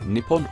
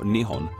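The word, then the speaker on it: 日本: dis in kanji which can be pronounced in one of two ways Nippon or Nihon for the rest of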